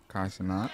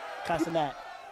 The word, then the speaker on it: Cenat: Cenat. Right? Cenat.